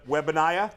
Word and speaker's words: Wembanyama: speaking of guys whose last name we're going to pronounce 17 different ways in this next 10-minute segment. Wembanyama?